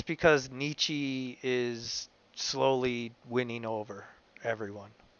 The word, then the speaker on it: Nietzsche: skip when you said niche yeah well i said nietzsche because that's the americanized version but it's nietzsche i didn't hear the second syllable and i know this